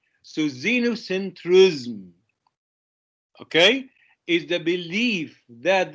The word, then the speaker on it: xenocentrism: is pronounced as xenu i know it begins with x but it is pronounced as a z so xenocentrism okay is the belief